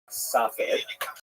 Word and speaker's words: Safed: And that is the incredible explosion of spiritual, literary, religious activity that occurred in the northern Israel city of Safed, pronounced in Hebrew Tzfat or Tzfats.